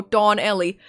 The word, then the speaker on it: Donelli: My name is Donelli. I guess I should should tell you that it's spelled as one word, even though it's pronounced as two two words. Oh, Don Ellie.